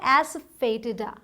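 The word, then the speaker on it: asafoetida: हींग की इंग्लिश थोड़ी टिपिकल है और इसकी जो प्रोनाउंसिएशन है अगर वो पता ना हो तो आप पक्का इसे गलत पढ़ेंगे। इसे पढ़ा जाता है एस्फेटिडा, एस्फेटिडा, ठीक है।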